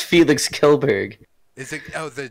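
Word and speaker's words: Kjellberg: filed against Swedish YouTube star Felix Arvid Ulf Jolberg. Damn, what a name! It's Felix Kelberg. Is it? Oh, the J is silent.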